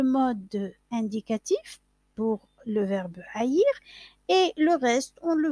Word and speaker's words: haïr: Le verbe haïr contient un H aspiré. Le H muet n'est pas le H aspiré qui correspond à un léger bruit de souffle qui empêche l'effacement et par ce fait même la liaison entre les mots.